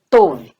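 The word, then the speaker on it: טוב: Então você tem o Tet mais o Vav, só que esse Vav você percebe que tem um ponto aqui em cima, e este ponto indica que aqui é um O longo, tá, gente?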